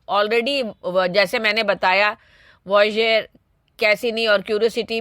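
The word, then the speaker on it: Voyager: Already, जैसे मैंने बताया, वॉयेजर, कैसिनी और क्यूरियोसिटी भी इस तरह के इंजन में चलते हैं। देखो, वॉयेजर को वॉयगेर भी बोलते हैं। नासा, ये सब प्रोनाउंसिएशन के कारण है।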